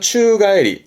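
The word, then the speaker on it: 宙返り: 발음은 추가에리, 추가에리.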